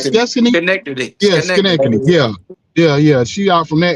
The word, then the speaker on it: Schenectady: Out there, how you pronounce Schenectady. Destiny? Connected. Yeah, Connected. Schenectady.